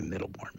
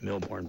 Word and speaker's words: Milbourne: builders or uh Middleton Bakery middle born Bakery right I don't want to get their name wrong I it's I do that all the time milborne why did I say middlebourne Milbourne Bakery but it you